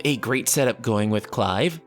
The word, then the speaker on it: Clive: great setup going with clive see i said it i said it right this time not cleave live and seeing how his